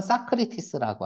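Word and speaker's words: Socrates: 발음은 사크리티스라고 하죠. 그냥 소크라테스.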